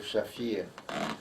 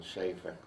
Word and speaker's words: Shafir: It was in Polish was Shafir. Yeah. In English, altered to sound more Anglo-Saxon, Schaefer.